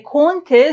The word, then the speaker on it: compter: Dans ce mot, on ne prononce pas le M ni le P. Compter, ça se prononce comme les voyelles nasales. Compter, compter.